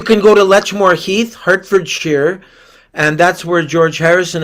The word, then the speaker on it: Hertfordshire: Hertfordshire.